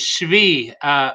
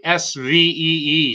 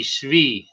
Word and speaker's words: Shvi: His name is Shvi. It's like, I guess the phonetic would be Svee, Shvi.